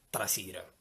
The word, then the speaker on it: transire: Quindi è molto probabile che transire, anche in latino, che significava transitare, venisse pronunciato trasire.